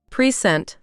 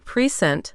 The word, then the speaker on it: present: the first syllable, right? Prescent. But if it's a verb, like to give a presentation. Oh, then it's present, the second syllable. You got it. Present noun versus present verb. Same letters, same sounds, but different stress, different meaning.